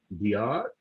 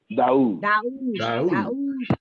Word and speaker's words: Daoud: From the brother, I think it's pronounced his name, Diar. Is that how you pronounce it, Antonio? Oh, Daoud.